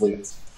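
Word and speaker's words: Lutes: to pronounced his name whether it was plural of loot or some other pronunciation it's loot um and it's sort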